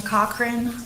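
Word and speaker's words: Cochrane: for me please my name is taana cochr um formerly known as Tana Smith and my first name is spelled t a TI i a n a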